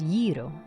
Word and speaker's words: gyro: Every Greek person I know has ever has pronounced it as gyro.